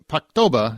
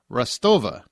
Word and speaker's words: Rostova: Apparently, when you say Paktoba, as we said last week, it is actually pronounced Rostova. Phonetically, it sounds the same.